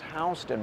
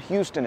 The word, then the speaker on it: Houston Street: I've mentioned this in plenty of tours before, but the grid of Manhattan begins at Houston Street, which is pronounced Houston. Remember that, not Houston.